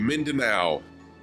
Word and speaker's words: Mindanao: one we took off from mindanao thank you mindanao okay so i was saying hey oh i got you i was pronouncing the a.m but mindanao thank you viper